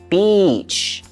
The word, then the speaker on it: beach: words like beach so the best way to pronounce this word is to make sure you let that vow sound come out a vowel is a e i o u in this situation it's the e sound Beach so say e first